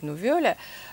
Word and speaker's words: nouvelle: вольтера nouvelle vie nouvelle а иногда по-французски правильно говорить nouvelle а это такая необычная